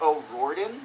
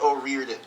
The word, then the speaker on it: O'Riordan: saying it wrong, but at first I thought it was O'Riordan, but that's just my American accent being an asshole. Because then I saw an interview with her, and she said it, and I'm pretty sure it's pronounced O'Riordan. O'Riordan. O'Riordan. O'Riordan. But that could just be her accent too.